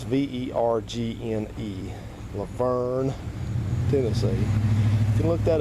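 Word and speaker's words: Lavergne: It's spelled L-A, then it's V-E-R-G-N-E, Laverne, Tennessee.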